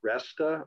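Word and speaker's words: Reysta: I believe it's pronounced Resta, R-E-Y-S-T-A.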